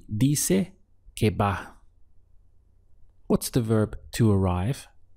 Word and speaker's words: va: Va. It looks like ba-a, but in the spoken language, often all you hear is ba.